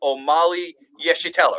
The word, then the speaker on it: Omali Yeshitela: Well, I see the Chairman Omali Yeshitela, right? Did I pronounce that Right. correctly? Yes.